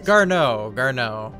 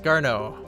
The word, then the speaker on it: Garneau: Garneau. My bad. It's pronounced Garneau.